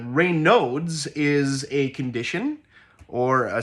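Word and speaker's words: Raynaud's: no uh but if you were just looking at it in English you would probably say rods but that's not it uh rain nodes is a condition or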